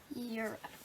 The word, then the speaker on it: Europe: Europe should be like right. Europe rhymes with syrup.